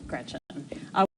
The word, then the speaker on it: Gretch: named after my grandma Gretchen, who I adore. It's funny though, because she always said, never let anyone shorten your name. Don't let people call you Gretch because it rhymes with wretch.